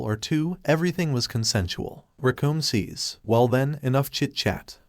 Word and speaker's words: Recoome: Because the name's Recoome. It rhymes with doom.